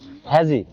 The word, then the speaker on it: hazy: হ্যাজি যদি আমরা বাংলাটা দেখতে যাচ্ছি, আমরা যদি ইংলিশে শুধু দেখি মনে হবে হাজি, HAZY। উচ্চারণ কিন্তু হ্যাজি, কিন্তু ইংলিশে শুধু দেখলে মনে হবে এটা হাজি। হাজি তো চেনেন?